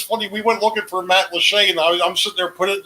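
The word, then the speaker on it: Matlacha: pine island uh went uh past um uh matt lachey which is interesting because it's it's pronounced matt lachey but it's not actually spelled that way so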